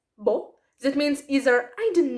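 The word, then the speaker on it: boh: impressive or in italian there is such a nice word that is pronounced as bo that means either i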